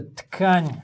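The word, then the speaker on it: ткань: So I should use You should use a tkань для очков. This and word. And not your shirt. Pronouncing this word in Russian is a difficult one because I keep too many letters. Yeah, wrong letters.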